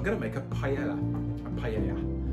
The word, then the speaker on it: paella: make a paella a paella which Spanish pronunciation it's a Spanish rice